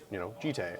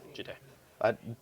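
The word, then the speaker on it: Jitte: Jite. That is how I've pronounced it for years and how I will continue to pronounce it.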